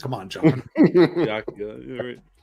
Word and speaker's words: Byakuya: Oh yeah, that's obviously the way it's pronounced. Come on, John. Byakuya.